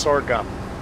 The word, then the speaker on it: sorghum: farming sorghum sorghum sorghum i think it's pronounced sorghum as if your gums are sore yes it's a good